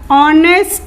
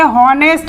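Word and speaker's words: honest: की slide bye ऑल ऑनेस्ट man tasty इसे पढेंगे और ऐसे हार्नेस्ड नहीं पढेंगे यह हमारा हो गया और ने इसका उच्चारण हो रहा है ऑन रस आ तो यह हमारा किस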